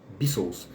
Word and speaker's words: Beatles: Tem gente que vai chamar de Beatles, não vai pronunciar o T, Beatles.